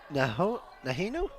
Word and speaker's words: Nahinu: That is Angel Nahinu. Not totally sure if I'm pronouncing that right, and I got the nods saying I got that correct.